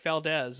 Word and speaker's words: Valdes: So Yeah, just follow me on Instagram at Valdes. It's MikeValdes. It sounds like a Z spelled with an S.